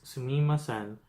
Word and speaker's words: sumimasen: magic word excuse me in Japanese is sumimasen that's it very quickly as they usually do it sounds like samosa in restaurants instead of